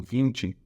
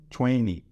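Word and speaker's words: twenty: o 20 seria o 20 a gente vai pronunciar ele quase como se esse T aqui ele fosse mudo como se fosse apenas um n e o y ficando 20 20 20 o 30 a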